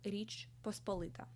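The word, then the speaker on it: Річ Посполита: as in Ukrainian and I will say it with Ukrainian pronunciation the state is called Rich pospolita nothing to do with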